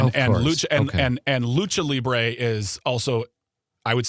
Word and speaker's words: lucha libre: So So it's Lucha Libé and so no lucha it's pronounced lucha libre and it is it is me is traditional Mexican wrestling traditional let me repeat this.